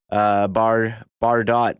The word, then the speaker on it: Bardo: And shout out to Bar Dot in chat. Another great show, Remo. You do the job of three people. Thank you for the kind words. Bardo, as it is pronounced.